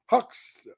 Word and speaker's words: Hyksos: They always lived in Lower Egypt, and it's pronounced Hux.